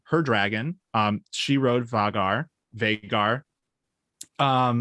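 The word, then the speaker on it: Vhagar: wrote vagar vagar um i say it veigar how do you guys say it vagar veigar or other yeah let us know um so veigar i'm going to go with that now because that sounds nice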